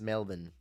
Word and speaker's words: Melbourne: Our city Melbourne is pronounced Melbourne.